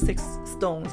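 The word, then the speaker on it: SixTONES: like I think Stones the group name is Stones is six tones but pronounced as six stones because it sounds like Stones uh oh my God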